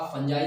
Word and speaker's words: fungi: अब फंजाई के बारे में हम लोग डिटेल पढ़ेंगे। देखो, इसको फंजाई भी बोलते हैं, फंगी भी बोलते हैं और फंगस भी बोलते हैं। प्रोनाउंसिएशन अलग अलग होता है।